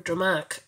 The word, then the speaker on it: Drumanagh: Drumanagh, or Drumach as it is pronounced locally, is an Iron Age promontory fort located on the coast between Loughshinny and Rush.